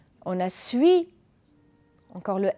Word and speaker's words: suis: après moi puis et fait attention que le s ne se prononcent pas on a suis encore le s ne